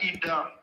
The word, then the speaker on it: Idah: And now, if you look at Kogi, if you look at Ida is spelled IDAH.